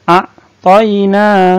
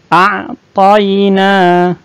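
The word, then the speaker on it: أعطينا: Nah, ada to fathah bertemu dengan ya sukun. Nah, ini disebut juga dengan lin. Nah, kalau dalam ilmu tajwid disebut lin. Jadi kita bacanya a'toina. Nah, to bertemu dengan ya sukun. To fathah atau to bertemu dengan ya sukun. A'toina. Nah, seperti itu ya anak-anak, bukan toe, bukan a'toina, tapi a'toina.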